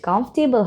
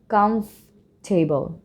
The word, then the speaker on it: comfortable: যদি আমরা কমফোর্টেবল বলে থাকি তাহলে কিন্তু ভুল হবে, উচ্চারণটা করতে হবে এভাবে, comfortable.